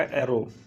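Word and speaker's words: Aron: हैं वह रेमंड अरा स्पेलिंग पर यहां आरोन लिखा जाता है लेकिन बोलने में क्या आएगा अरा इन्होंने एक बुक लिखी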